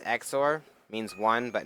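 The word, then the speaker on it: XOR: low overlay difference gation bitin darken green and zor zor is weird let's go with that multiply to change the scale of those rendered object down to really tiny into the roughness oh it's pronounced X or means one but not both sing be honest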